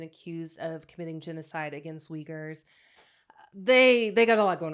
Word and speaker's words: Uyghurs: It targets minority groups in China, specifically Tibetans, Uyghurs. I'm not sure how to pronounce that word, but I think it's Uyghurs.